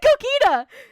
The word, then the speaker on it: Gogeta: How do you say Gogeta?